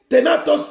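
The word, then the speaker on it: thanatos: Ténatos s'écrit T-H-A-N-A-T-O-S. Ténatos.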